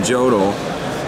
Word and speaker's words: Jodl: Streicher, Donitz, and then Jodl. Jodl. I always say it wrong. Everyone tells me. Yeah, Jodl.